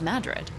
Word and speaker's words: Madrid: is the town of Madrid spelled like Madrid Spain but pronounced here as Madrid if you visit Madrid you'll see why locals decided to say it a little differently because in Madrid everything